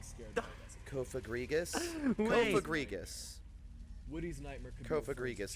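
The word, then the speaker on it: Cofagrigus: Kofagriggas is the right way.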